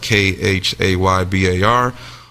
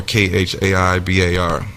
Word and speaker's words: Khaybar: called the Battle of Khaybar. Sometimes it's pronounced Khaybar or Khaibar.